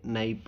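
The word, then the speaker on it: knife: ಗ್ರಂಥಿ ಗ್ರಂಥಿ ನೈಪ್ ಚಾಕು ಇಲ್ಲಿ ಕೆ ಸೈಲೆಂಟ್ ಆಗ್ತದ ಅದಕ್ಕೆ ಅದರ ಉಚ್ಚಾರಣೆ ನೈಪ್ ಅಂತ ಆಗ್ತದ ನೈಫ್ ಮೀನ್ಸ್ ಚಾಕು ಕ್ವಿಕ್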